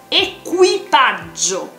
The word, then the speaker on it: equipaggio: Cuidado con la pronunciación, equipaggio, ¿vale?